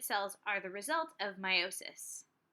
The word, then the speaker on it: meiosis: half of the information meiosis pronounced like my Oh sis a lot of times you might say meiosis but it's meiosis during meiosis one diploid